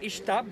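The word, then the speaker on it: Ixtab: to the mayan language you should pronounce it like s h like to say shadow or shuld in english that's the way to pronounce those words with the letter x and speaking of ishtab that is another goddess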